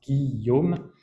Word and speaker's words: Guillaume: That's a French name that's pronounced Guillaume, and my family name is, much easier.